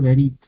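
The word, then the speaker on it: בְּרִית: bíblico prácticamente no perdón en hebreo moderno eh prácticamente no no no suena directamente lo lo dicen brit no brit pero eh según las leyes del shev las leyes del hebreo bíblico esta este lleva al principio de sílaba de palabra es vocalizado Entonces es verit verit en este caso tenemos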